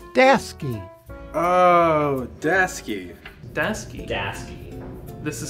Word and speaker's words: Daseke: with guys I don't know it's Desy oh dasy dasy dasy this is spelled right yeah dasy Das oh dasy dasy